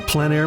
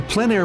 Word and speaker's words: plein air: The French pronounce it plein air. Others say plein air.